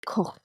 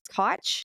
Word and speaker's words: Koch: Well, I know in German it's like Koch, like it's funny because it sounds like a cough, and he's like a bacteriologist. But like I've heard people here in America sound it out as Koch too, but that hurts my spinal cord for some reason.